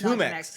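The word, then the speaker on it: Jumex: It It's HUMX. And I learned I like saying that that way a lot better. It makes more sense cuz that is how you pronounce J, but I just like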